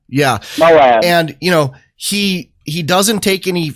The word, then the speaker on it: Moab: Moab. Yeah. Moab.